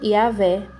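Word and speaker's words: Yahweh: a a vogal e e eles pronunciam como yavé depois coloca outros sinais noéticos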